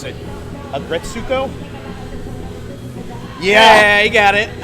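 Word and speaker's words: Aggretsuko: Like I started watching, I'm probably going to mispronounce it, Agretsuko?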